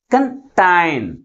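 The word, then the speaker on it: contain: next one ఇస్ కంటైన్ కంటైన్ అంటే second syllable ని first syllable కంటే ఎక్కువ ఫోర్స్ గా పలుకుతున్నాం కాబట్టి ప్రైమరీ స్ట్రెస్ ని ఎక్కడ ఉంచాలి టైం టి ముందు ఉంచాలి అర్థమవుతుందా అంటే ఏదైనా ఒక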